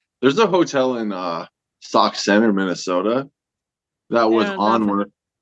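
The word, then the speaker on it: Sauk Centre: way away from you sock Center sock Center Minnesota s a u k s k yeah sock Cent they spell it they spell it fancy yeah Cent so a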